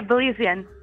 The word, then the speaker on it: Belizean: That's probably not how you say it. Belizean. Belize is a city, Belizean. Right? It's Belizean? It sounds made up. I feel like I made that up. Yeah, Belizean. No, you got it.